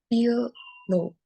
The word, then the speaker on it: pillow: Pillow has two syllables, punya dua suku kata yaitu pill and low. And this word is stressed when I say pill low.